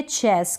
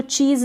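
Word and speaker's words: chess: ये है चेस, इसको चीज़ ना पढ़ें।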